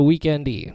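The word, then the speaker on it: The Weeknd: The Weekend-y, because there's no E there. Love it. The Weekend. I don't know if you can... I mean, he says you pronounce it weekend, but he doesn't spell it weekend.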